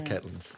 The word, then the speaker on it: Catlins: couldn't find you yeah that same pronunciation I noticed the Catelyn's yeah yeah as Caitlin Moran now you always said Caitlin's I suppose did you know I heard that one right the Catlins ask him about how